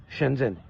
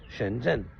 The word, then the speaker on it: Shenzhen: e n guandon Chen trois mots ensuite vient chenzen chenzen c'est en deux mots s h e n espace ZH e n Chen zen ensuite vient guanjou la ville de guanjo qu'on